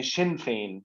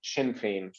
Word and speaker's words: Sinn Féin: इसको शीन प्रोनाउंस करते हैं, शिन फेन, शिन फेन।